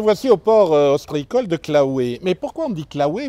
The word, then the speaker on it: Claouey: Claouet comme Piquet, il y a EY.